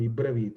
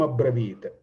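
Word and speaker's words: अब्रवीत्: Sanyugeshu aparajitam sarasreshtam dhanuhu sreshte vikarshan idam abravit, idam ibravit. No, it must be a abravit, idam abravit.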